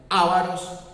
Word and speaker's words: ávaros: maneras según la tilde, pero que aquí se pronuncia como palabra esdrújula, como ávaros, el reino vándalo estaba